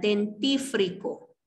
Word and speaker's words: dentífrico: para designar la guarda la forma correcta de pronunciar este término sería dentífrico dentífrico ese es el término correcto entonces de este término